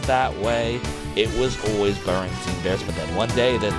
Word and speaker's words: Berenstain: Then there's also the Berenstein Bears, which I'm affected by.